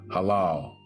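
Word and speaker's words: הלל: This is the original pronunciation, 1984, halal.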